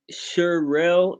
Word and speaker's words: Sherelle: And Sherelle is how it's pronounced. Like Chanel.